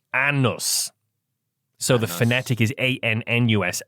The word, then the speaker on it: Anus: Despite its unusual spelling, the community's name is traditionally pronounced Annus.